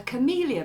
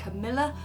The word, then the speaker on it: camellia: we're going to paint a camellia bush, or I think some of you pronounce it a camilla bush, but it's beautiful blousy pink flower just absolutely covering a wonderful bush.